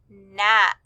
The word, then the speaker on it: gnat: We would circle the words Nash and gnat. Both of these words begin with the G N digraph, but remember that G is silent, so you just hear the N, Nash, gnat.